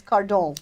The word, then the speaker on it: Cardon: because that because my married name is so unpronounceable my career is my maiden name which is car dong dong nose Dustin that's in French Dustin wah